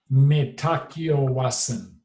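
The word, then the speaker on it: Mitakuye Oyasin: Mitakiawasan.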